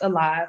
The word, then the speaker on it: Olive: I am the founder and owner of Alive Juicery. It's spelled Olive like my last name, but it's pronounced Alive because this business is geared towards helping you improve your quality of life.